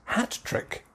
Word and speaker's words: hat trick: in the middle typically hat trick stress on the first syllable the main stress hat trick trick hat trick next one league table